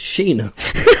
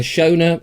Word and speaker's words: Sheena: Her real name is Sheena. Think of Sheena Easton. There we go. And I've been calling her Shona. I've called her Sharon.